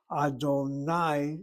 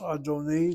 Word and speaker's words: Adonai: The four-letter name of God is not pronounced adoni. No, it's pronounced with an I at the end.